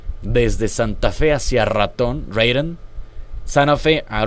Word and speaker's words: Raton: Llegamos desde Santa Fe hacia Raton, Raton. Santa Fe a Raton. Ya que está en los gringos unidos, pues lo tenemos que pronunciar en inglés.